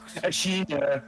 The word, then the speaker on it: Ashina: The land of Ashina. Completely overwhelmed by fucking terrorists. Usually in the Nippon language, I think it's the first syllable of the word that has the emphasis. Yeah, Ashina. Sorry. Yes. Ashina.